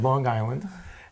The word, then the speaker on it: Long Island: University in Long Island Long Island with a G Long Island you have to say it right that's right Long Island and I wound up